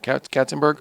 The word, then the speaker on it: Katzenberg: And you get a phone call from Jeffrey Katzenberg. Isn't that right? Am I saying it right? Katzenberg, yeah.